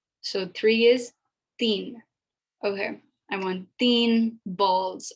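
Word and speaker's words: तीन: i promise you there's a difference and it's pronounced so three is thien okay i want theme balls i want theme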